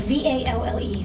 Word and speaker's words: Valle: It's like V-A-L-L-E, so Valle, it's way up by Grand Canyon.